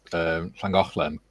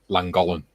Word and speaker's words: Llangollen: Like my dad's English, and he's always called Llangollen Langolan. Langolan. Langolan, yeah.